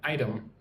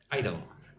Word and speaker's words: item: And again, item. The nice soft T. Item.